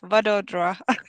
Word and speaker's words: Vadodara: How do you pronounce it? Vadodara.